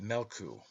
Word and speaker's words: Meolku: Therefore the sun is called Meolku, pronounced Melku, a greyhound.